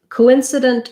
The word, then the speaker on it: coincident: It's just coincident. You're going to stress on the in. So it sounds like true O here. Co-in-cident. Not much vowel here on the last syllable.